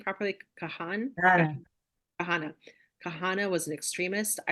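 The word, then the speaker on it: Kahane: I was brainwashed for years, even when I became a Zionist, that how do you pronounce his name properly? None. Kahana.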